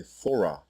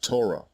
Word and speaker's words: Torah: That is why throughout this video you have heard me say Thorah when referring to the book of Masha and not Torah, as it is pronounced in the Masoretic dialect.